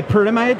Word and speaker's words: Pyramide: No, but we are a German-located company, and it is called Pyramide.